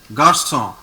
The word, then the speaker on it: garçon: Exactly. Garçon. Not N is not pronounced. Okay. So it is garçon.